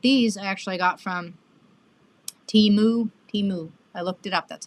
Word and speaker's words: Temu: And but these I actually got from Temu.